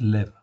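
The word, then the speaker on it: לב: Leb ou lève, on prononce lève, ok? Les rabbins prononcent lève, ok? Mais en réalité c'est leb. Donc j'ai remis en fait leb tout simplement parce que ça se termine par un bet.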